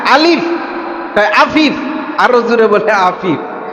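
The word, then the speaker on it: ألف: তো মুরব্বী বলে আফিফ। আমি বলি আলিফ, মুরব্বী বলে আফিফ। আমি বললাম আফিফ না আলিফ।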